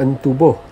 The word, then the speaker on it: Entubuh: Ini kampung Entubuh, geng. E-N-T-U-B-U-H. Ejaannya Entubuh, tapi dalam bidayuhnya disebut Entubuh.